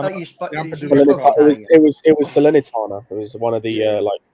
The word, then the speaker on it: Salernitana: to pronounce it. I thought you could speak. Salernitana. I thought you spoke. It was Salernitana.